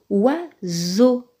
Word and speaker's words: oiseau: Très bien, ça se lit oiseau.